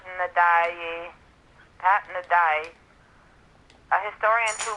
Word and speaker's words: Ndiaye: Pat Ndiaye, I don't know how to pronounce his name. It's Ndiaye.